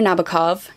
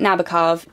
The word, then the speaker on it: Nabokov: murakami Lolita by Vladimir Nabokov yes I'm pronouncing it Nabokov people of the internet who insist on correcting me I have had many many professors pronounce it Nabokov the face is familiar